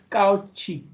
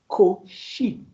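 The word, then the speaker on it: Cauchy: I didn't say couchi. Of course some say couchi. The name is Coi normally.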